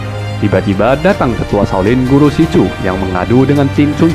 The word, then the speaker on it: Xu Zhu: By the way, panggilan Si Chu ini tidak seperti tertulisnya ya. Kalau tertulisnya kan seperti Su Chu, tapi kalau memang dibacanya dipanggilnya itu Si Chu.